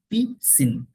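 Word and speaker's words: piscine: ওকে, সো এখন এই word গুলো যদি আপনার মেমোরিতে নাও থাকে, কোনো প্রবলেম নেই, সাইলেন্ট থাকবে না, পিসিন, পিসিন, এস নাই, এসটা সাইলেন্ট, এটা নাই, পিসিন।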